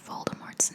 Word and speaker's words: Voldemort: as Rowling told him contrary to popular belief the D at the end of Voldemort's name is silent the name comes from